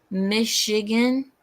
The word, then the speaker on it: Michigan: else wrong again the the CH in Michigan is pronounced like an sh like a sh oh Michigan yes Michigan Michigan Michigan